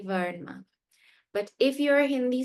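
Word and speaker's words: वर्णमाला: In Hindi, it is written in the exact same way, but is pronounced Varnmala. Varnmala, meaning it is as though there is a halant on the ra. So it's not Varnamala, it is Varnmala.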